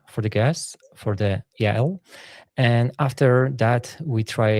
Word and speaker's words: Yael: Good morning, Jael. Good morning. Good morning. It's Yael. I just I will fix it so people can pronounce my name. I know it's a little hard. It's Yael.